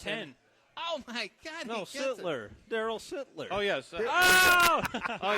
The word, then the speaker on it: Sittler: I was saying Sutter, and I'm like, it's not Sutter. But no, it's Sittler. Sittler. So is that? Sittler. You have to make sure we pronounce that correctly.